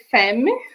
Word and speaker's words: femme: Então, apesar de se escrever femme, a gente fala femme, ok?